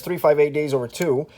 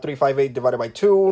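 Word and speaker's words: 358/2 Days: So there's 358 Days Over 2. And yes, that is how you pronounce the title, people. 358 Days Over 2. Not 358 divided by 2. Not 358 over 2.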